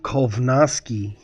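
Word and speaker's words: Kownacki: a bad fight man you spelled k necki perfectly that's exactly how you spell it it's just apparently pronounced kovi and polish Jack catel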